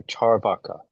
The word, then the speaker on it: Charvaka: should we say that there's a long a in the second a so is that more charvaka or charvaka paul I I think it's it's long but not but still evenly stressed. So charvaka. Charvaka. Okay. So there's evil e equal stress on the two vowels.